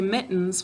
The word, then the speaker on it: mittens: this guy all right so we say mittens when we're talking to spell it we say mitt tens i don't hear this when i say mittens this is just here to close the syllable and keep our vowel from saying its name it's silent what do we do to